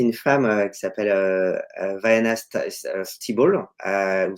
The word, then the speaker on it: Stibal: Alors la fondatrice, donc c'est une femme, qui s'appelle, Diana Stibal, ou Steibel, je sais pas comment on prononce, donc c'est Stibal, C'est S-T-I-B-L.